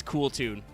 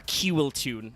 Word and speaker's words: Kewl Tune: Um, it is the official TCG name is cool tune or Kiwune as Jaxel likes to say, and I agree with because it points out how silly it is because it's spelled that way.